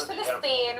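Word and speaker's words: فلسطين: Because it's pronounced as no, we call it Philistine.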